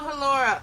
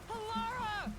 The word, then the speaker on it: Halara: Call Halora. What? Wait, please listen to me. Call Hora. You almost had it, but got too carried away.